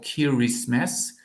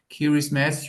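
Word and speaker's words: Kiribati: the island is called kiris mass kiris mass you you hear the similarity to Christmas so it was obviously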